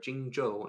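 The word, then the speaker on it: Jingzhou: and I want to make sure people pronounce that one correctly Jing Jo I learn Jing Jo I learned something new today sounds in Chinese are pronounced like a j thank you Jason on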